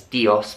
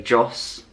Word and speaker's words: Dios: In Spanish, they will say it as Dios, but then with Filipinos, especially when they're speaking quickly, they'll just say it as kind of one syllable. They'll just say Dios.